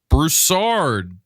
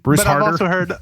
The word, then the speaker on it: Broussard: for Bethany Church, Brandon Broussard. Broussard. Brandon Broussard. Brandon, what's the weirdest way people have mispronounced your last name? Broussard. Yeah. Bruce but Harder? I've also heard Broussard and Broussard.